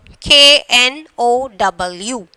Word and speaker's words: know: I know that. I know very well. We are telling no. So here the K is silent.